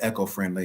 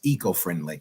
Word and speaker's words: eco-friendly: to have you um I said echo-friendly maybe it's the the proper pronunciation is eco-friendly e yeah you say tomato